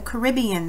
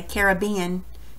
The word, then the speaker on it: Caribbean: So you'll write the Caribbean there. And it's right there on your map on page 143. You can copy how to spell it there. Some people say Caribbean. Caribbean, Caribbean, doesn't matter. Tomato, tomato.